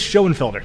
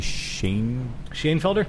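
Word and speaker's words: Schoenfelder: written here somewhere Nicholas Shen Felder okay so thank you Nicholas shelder for sharing this list think it might actually be Shane Shane Felder yeah usually that se H OE is pronounced Shay you know we're good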